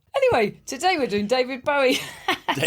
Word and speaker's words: Bowie: This is the one about David Bowie and Angie.